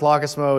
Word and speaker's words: Lockismo: So it's pronounced Lockismo. It's Norwegian.